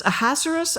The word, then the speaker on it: Ahasuerus: And the name of the Persian emperor, as we were discussing it, I believe it's Ahasuerus, I think is how they pronounced it in Hebrew.